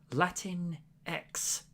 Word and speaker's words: Latinx: But the thing that annoyed Lydia in particular, they said they're going with a Latin X perspective, as in. Apparently, it's pronounced Latinx. Oh, Latinx.